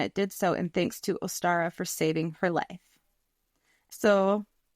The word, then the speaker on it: Ostara: so in thanks to Ostara for saving her life. So, I looked up how to say this. It was like Uster or Ostara and later Ostara, the goddess of spring